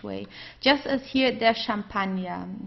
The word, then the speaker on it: Champagner: Just as here, der Champagner. Okay, it's also French, so we pronounce it the French way, der Champagner.